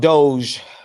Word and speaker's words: DOGE: Unfortunately, it's called Doge. Oh, I'm pronouncing it incorrectly.